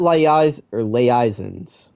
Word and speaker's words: liaisons: And what liaisons?